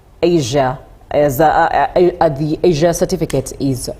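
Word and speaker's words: ESIA: It's environment and social impact assessment which we short form into an acronym pronounced as Asia. So if you hear me say Asia, it's not Asia the continent but rather Asia with E SI A environment and social impact assessment.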